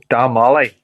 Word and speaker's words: Damolly: Damolly. Yep. Like as if there's like two A's.